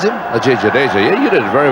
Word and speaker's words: Ajay Jadeja: Is that how you pronounce him? Ajay Jadeja, yeah, you did it very well, Blur.